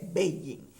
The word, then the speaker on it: Beijing: que nos percatamos que ya no se dice pekín sino que se dice baby fue que le cambiaron